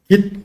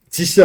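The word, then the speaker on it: Git: 근데 깃데 깃 혼자만 형상 관리 도구에 쓸 수는 없고 깃업과 결합해야죠. 그 지이 아니고 깃이라고 읽어야죠.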